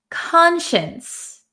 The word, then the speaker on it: conscience: n c e conscience it looks like Khan science what is a conscience